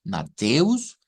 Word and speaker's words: Mateus: tenerlo como de referente ya sabemos que matus se pronuncia con una te e verdad con acentuación o con sílaba tónica mateus luego que el s